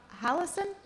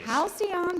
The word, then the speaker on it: Halcyon: Hallison? On the 8? Yeah. Halcyon Days.